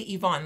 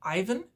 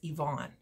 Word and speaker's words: Ivan: now when i say yvonne the way that that's spelt is ivan and a lot of people would pronounce that ivan but in ukrainian it's yvonne so he has been